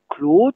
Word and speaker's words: klod: Donc KLOD se dit claude, la gloire, et KLOT se prononce clotte, et c'est un trou, un creux.